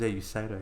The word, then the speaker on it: Usedo: He goes, "Man, you got my name wrong. That's not my name." He goes, "Oh, my name's Usedo."